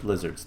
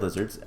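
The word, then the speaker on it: Lihzahrd: But yeah, so the lizards themselves, and they are called lizards. Ow. If we break one of their statues, it's spelled weird, lizard, but it's still pronounced lizard as far as I'm aware.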